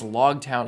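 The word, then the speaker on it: Loguetown: uh we're also corrected it's technically log town I guess I don't know how they pronounce it I'm probably going to end up saying log town but it's log town like the epilog and the prologue as in the end and the beginning that's I like that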